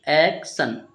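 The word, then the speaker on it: action: हुआ एक ठीक है टी आई एन को पढ़ेंगे सन तो एक्शन इस तरीके से इसका उच्चारण एक्शन एक्शन का मतलब क्या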